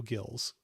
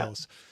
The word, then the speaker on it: Gillis: But William Holden was playing Joe Gills. Or Gillis? Yep. Gills? Joe Gillis, yeah. Gillis.